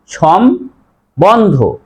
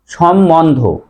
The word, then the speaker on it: সম্বন্ধ: একটি নিয়ম আছে যে ময়ের সাথে যদি ব ফলা থাকে, ব এর উচ্চারণ লম্বা। আমরা কি বলছি যে লম্বা লম্বা, তাহলে এখানেও তো দেখো ময়ের সাথে ব ফলা আছে, তাহলে এই বর উচ্চারণ হবে, সঠিক উচ্চারণ হবে সম্বন্ধ।